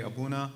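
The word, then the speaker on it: Aboona: record yeah good evening my name is abuna last name is spelled a-b-o-o-n-a I'm a principal with KL away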